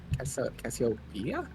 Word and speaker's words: Cassiopeia: Cassiopeia?